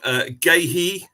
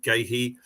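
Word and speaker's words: Guéhi: Ward, Gahey, correct pronunciation, Gahey.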